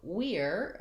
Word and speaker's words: we're: to be ready okay so we're i would say falls into the ear category then look let's look